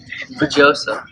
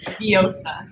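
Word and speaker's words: Vjosa: Vajosa. No, it's Viosa. Like you don't pronounce it.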